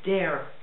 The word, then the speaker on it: Dare: Attention, ça se prononce Dare.